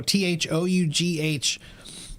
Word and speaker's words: though: about the word though t h o u g h the reason we spell it that way is because we used to pronounce it differently so now when we